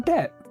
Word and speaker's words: debt: So let's put a silent B in debt like debatim, which is Latin for debt.